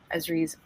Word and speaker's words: Esri: A team at ESRI, it's pronounced ESRI, right, Clinton? Yep.